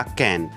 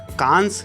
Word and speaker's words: Cannes: या तो कान या कैन, लेकिन कांस या कांस नहीं, क्योंकि फ्रेंच भाषा में कई जगहों पर आखिरी अक्षर साइलेंट रहता है, जैसे यहाँ पर एस जी, तो इसे कान।